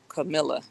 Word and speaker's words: Kamala: They interviewed her grandmother, and the grandmother said it's pronounced Camilla. Well, I heard Kamala say Kamala, so that's why I pronounce it that way.